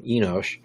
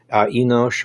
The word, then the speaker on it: Enosh: And Seth called the name of his son Enosh, Enosh or Enos. It's pronounced or written a couple of different ways depending on what Bible you're using.